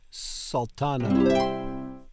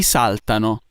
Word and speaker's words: saltano: Tutti saltano. Saltano. I always want to pronounce it wrong. I always want to put the emphasis in the wrong place. Because we would say saltano in English, not saltano.